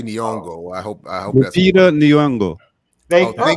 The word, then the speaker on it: Nyong'o: So for folks who haven't heard, De Beers announces pronounce the sister's name. Lupita. No, her last name. Nyong'o. That's how I say. I say Nyong'o.